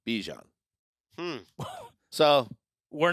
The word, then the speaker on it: Bijan: pronounce this the s-i how you pronounce my name is Bajan like that's how you say my name he said I actually told Fox 5 in Atlanta but I say Bijan hmm so we're not